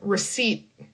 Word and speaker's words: receipt: And this one, receipt. Receipt. Similar to a seat. Like, can I take a seat?